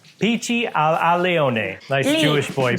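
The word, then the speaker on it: Pici all'Aglione: Pici al aglione. Did I pronounce it right? No. Damn it. Al alione. Pici al alione. Pici al alione.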